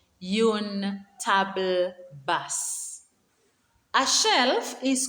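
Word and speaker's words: une table basse: is called yon bibliotech coffee table is called yoon table bus yoon table bus a shelf is called an etager and if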